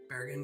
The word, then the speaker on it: Bergen: If you don't like rain, don't come to I'm not going to pronounce that right. Bergen. Bergen.